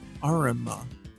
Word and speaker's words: Arima: It's pronounced Arima. Red Arima. It's like, so armor is like the... It's like the British pronunciation.